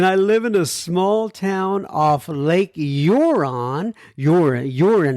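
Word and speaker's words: Huron: small town off Lake euron you're you're in how do you pronounce h-u-r-o-n and I think it's you're on uh in Ontario Canada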